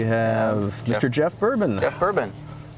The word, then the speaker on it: Boerboon: Jeff Boerboon. Bourboon. I like pronounced like bourbon. And not spelled the same. But not spelled quite the same.